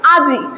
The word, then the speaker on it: আজি: যে উদাহরণে দেখো, এখানে আমি দিয়ে দিয়েছি আজি। আজি শব্দটা পরে যখন উচ্চারণ হচ্ছে, অনেকজন কি উচ্চারণ করে, আইজ। দেখো এই ব্যঞ্জনধ্বনিটির আগে কি হয়ে গেল, ই উচ্চারণ হয়ে গেল।